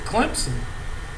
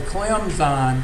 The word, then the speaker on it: Clemson: or something Cline but if you pronounce it Clemson you're saying I'm from around here and I'm a ignorant Southerner so they go out of their way to say clemon because they don't want